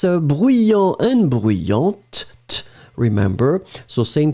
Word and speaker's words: bruyant: Masculine form will end with A-N-T, and then the feminine form A-N-T-E. D'accord, you will pronounce this t in the end for the feminine.